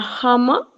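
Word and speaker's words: 하마: Recordemos que la primera es una J. Sería jama. Jama.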